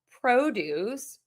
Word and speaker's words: produce: So if it's a noun, the produce, and then if it's a verb, produce, to produce, the produce, to produce. So again, syllable number 1 for the nouns, syllable number 2 for the verbs.